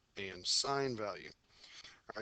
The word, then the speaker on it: sine: All right, sine on the calculator, it's sin. I still want you to pronounce it sine. I don't want you to say sin.